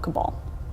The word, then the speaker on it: Cabal: So, people have come to blows over the question of pronunciation, but most of the surveyors are settling on the pronunciation of Cabal.